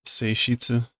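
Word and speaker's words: 性質: Touchy. It is, but I don't think that's how you normally pronounce that. Touchy. What would that be otherwise? Seishitsu?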